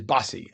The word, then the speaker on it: Bose: And your name is spelled like like the music company Bose, but it is Bossy.